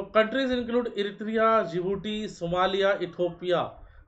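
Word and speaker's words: Djibouti: एस for Somalia, E फॉर इरिथिया, ई for Ethiopia and जिबूटी. तो ये D silent है यहाँ पे, राइट.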